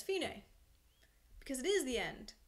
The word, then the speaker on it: Fine: so DC elfine a it's spelled like fine but it's Italian so we pronounce it Fein a is an Italian phrase